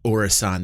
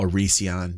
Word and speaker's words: Orison: eyeballs, and I'm on Orison that I call Orision that everybody gets mad about, you know, because I pronounce it that way, and that's just the way I pronounce things.